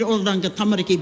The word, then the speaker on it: Oranga Tamariki: I'll say the word Oranga Tamariki because I keep hearing it over here. It's so poorly pronounced, to ensure these Māori children...